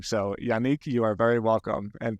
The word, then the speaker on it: Yannick: for noticing it's awesome now most most Americans like pronounce my name as Yanik because Nick is like very familiar name in America but yeah it's a French name so thanks for pronouncing it right my pleasure well uh